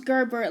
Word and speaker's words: Gerbert: It was Gerbert, like the yogurt.